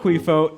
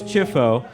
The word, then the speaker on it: Ciuffo: But no, at Ellis Island, it's Ciuffo, which is Ciuffo, like ciao. Oh, Cuiffo, right. Cuiffo, but- So it's not Cuiffo, it's Chiffo. That's how you spell it.